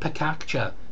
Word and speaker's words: pecha kucha: be pronounced pecha kucha it can be pronounced picacha people argue about this i'm sure it's very important to them ultimately though it's simply